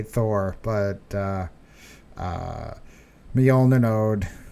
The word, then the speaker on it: Mjolnir: So the Jolner node sounds like Jolner node.